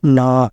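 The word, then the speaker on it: gnaw: से और इसका मतलब होता है ना जी एन ए डब्लू जी इसमें साइलेंट होगा और ना का मतलब होता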